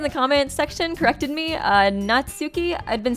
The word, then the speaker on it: Natsuki: you guys in the comments section corrected me Natsuki I've been saying her name wrong it's actually supposed to be not Sookie